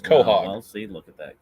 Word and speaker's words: Quahog: It's pronounced Quahog. Well, see, look at that. Quahog.